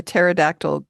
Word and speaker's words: pterodactyl: Um, why can't you hear a pterodactyl go to the bathroom? I don't know why. Because the P is silent.